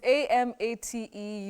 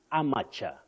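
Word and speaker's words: amateur: standard English you can amate with the stress at the onset or the first syllable if you like so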